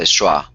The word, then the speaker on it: schwa: It's a schwa. schwa. As in the word sofa. As in the final syllable in sofa. That sound.